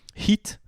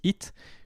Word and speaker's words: Heat: Heat demande aussi de prononcer le H aspiré, sinon ça se prononce Hit, comme le truc avec le clown.